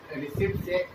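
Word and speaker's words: receipts: इसे रिसिप्ट्स कहा जाता है, रिसिप्ट्स नहीं बोलते, पी साइलेंट रहता है, रिसिप्ट्स बोलते हैं।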